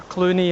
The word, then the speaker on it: Cluanie: the hell no hay over to karani or Clooney oh it's pronounced and we stopped here for a rest